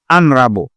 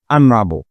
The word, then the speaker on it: honorable: H, on ne prononce pas. Honest. Honest. Et Anna. Honesty. C'est pas honesty, non. C'est honesty. Et honorable. Donc, Anna, honorable.